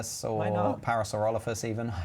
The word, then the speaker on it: Parasaurolophus: don't I don't really want to save a parasol ruffler so I know Parasaurolophus even I said it wrong I don't want